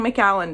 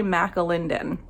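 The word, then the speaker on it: McAlindin: say her name right because i kept saying mcallen didn't and it's not it's kimberly mcelinden i love her she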